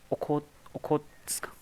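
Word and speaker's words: Okhotsk: Bengal, bearing C ऑफ ओखोत्स्क. ठीक है, इसका प्रोनाउंसिएशन थोड़ा टफ है. ओखोतस्क, ओखोतस्क पर पढ़ते हैं इसको.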